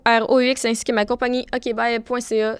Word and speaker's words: okbye: Moi, on peut me retrouver sur Instagram ainsi que TikTok sous le nom Jessica.roux, ROUX, ainsi que ma compagnie okbye.ca. Ça se dit comme ça s'écrit.